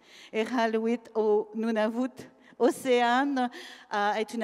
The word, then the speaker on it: Iqaluit: Est-ce que je le prononce bien? Iqaluit. Iqaluit au Nunavut.